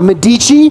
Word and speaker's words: Medici: Clint is now running a company called Medici, which is similar to the Cafe Medici, but pronounced differently.